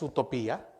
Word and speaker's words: utopía: poder militar que es utopía utopía con acento en la y plano sistema ideal de